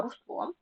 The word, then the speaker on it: русло: поміщик поняття проміжок проміжок русло не русло а русло цемент цінник і Тризуб